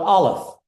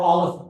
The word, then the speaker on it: Aleph: The size of the natural numbers is called Aleph. And it's Aleph 0, Aleph with a subscript 0, or Aleph null. Aleph is the first letter of the Hebrew alphabet. Aleph is a silent letter in Hebrew.